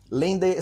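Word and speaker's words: LANDR: Lender se escreve L-A-N-D-R.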